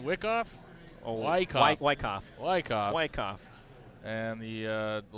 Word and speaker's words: Wyckoff: frames okay so I got the pronunciation of Wyckoff wrong Wyckoff is how you say her name thank you Katie Hokinson